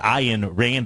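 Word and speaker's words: Ayn Rand: by I call her an Rand I in Rand I believe is the correct pronunciation and she said this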